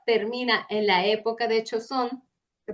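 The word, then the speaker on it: Joseon: Eh, la historia es un chef que de la actualidad que por algo que pasa termina en la época de Choosón, se pronuncia así, eh, en el cuerpo nada más y nada menos que de la reina.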